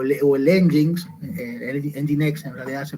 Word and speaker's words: Nginx: El mismo servidor Apache o el Nginx, Nginx en realidad se pronuncia, tienen la posibilidad de distribuir carga, de manejar carga a través de proxy reverso.